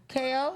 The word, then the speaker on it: Kayo: KO, like Like knockout.